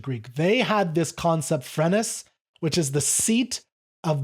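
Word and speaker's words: φρένες: word of the day, and that is Phrenes or Phrenes. So I'm going to pronounce it Phrenes from now on. That's a little more of a modern sense.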